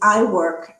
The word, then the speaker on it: IWIRC: And what about the new group the I think u well it's IWIRC but I think there was an acronym that I'll probably not pronounce properly. It's I work.